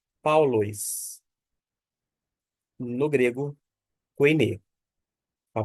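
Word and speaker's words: Παῦλος: ditongo de modo que o alfa com o y forma um som de au não de i na sequência nós temos o l o o e o s e a gente pronuncia paulis no grego a pronúncia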